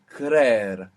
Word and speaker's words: creer: So, to believe is creer, creer, and it has 2 E's. C-R-E-E-R, creer.